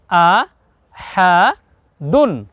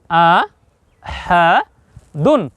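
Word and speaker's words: أحدٌ: যোগ করবো ন দেখুন দু যোগ ন দুন উচ্চারণ হবে কি আ হা দুন প্রিয় দর্শক আবার বলুন আ হা দুন দেখুন এখানে জবর এখানেও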